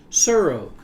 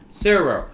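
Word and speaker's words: Tsuro: Suro. Surro. I want to pronounce the T. T is silent.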